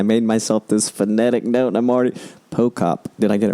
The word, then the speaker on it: Pochop: Pochop. Did I get it right? Jana Pochop? You got it right. The H is silent, everyone, when you see her name.